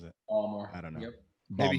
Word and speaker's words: Baltimore: He's from there, so apparently you don't pronounce the T.